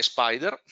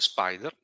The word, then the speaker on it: SPDR: in questo caso l'emittente è spider spdr si legge spider in italia poco conosciuto